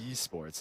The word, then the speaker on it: Esports: mess it up but you always pronounce the e but it's e and Esports Esports there we go yeah I mean coming